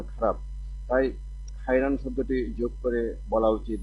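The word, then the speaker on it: خيرًا: বলা উচিত জাযাকাল্লাহু খাইরান খায়ের বলার ক্ষেত্রে সতর্কতা খায় শব্দটি বাংলা উচ্চারণে খায়রানের পরিবর্তে ব্যবহৃত হয় যা আরবি ব্যাকরণ অনুসারে সঠিক নয়। তাই সঠিক উচ্চারণ ব্যবহারের জন্য খায়রান বলা উচিত।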